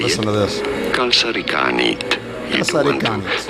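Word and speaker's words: kalsarikännit: Kalsarikanit. You do want to Kalsarikanit. stop a little bit on the ka syllable. Kalsarikanit. Or you could say in English as kalsarikanet.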